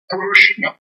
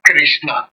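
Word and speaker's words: Kṛṣṇa: under dot is sound the pronunciation is Kuru like kushna it is not Krishna it is not Krishna Krishna is not a Sr word at all so it is kushna kushu kushna similarly going ahead is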